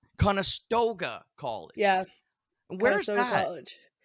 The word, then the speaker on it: Conestoga: called again again how do you say that kasta Koga conastoga College yeah where is college um so it's